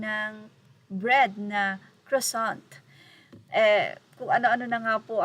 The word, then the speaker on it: croissant: Ayon pa nga sa kasama nila, ang hirap palang banggitin yan, kusot. Ngayon, sabi ni Katrina, hindi kusot, croissant.